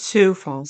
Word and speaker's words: Sioux Falls: It's Sioux Falls.